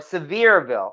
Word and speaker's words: Sevierville: Okay, Sevierville or Severe-ville.